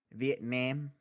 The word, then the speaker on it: Vietnam: to to say uh to say it is Vietnam Vietnam yes that's the correct way I am